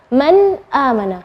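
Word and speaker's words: مَنْ آمَنَ: Man amana, nun sukun ketemu dengan hamzah, maka bacanya nunnya yang jelas. Man amana, bukan man amana, bukan. Man amana. Seperti itu cara membacanya. Atau misalnya tanwin, aliman hakima.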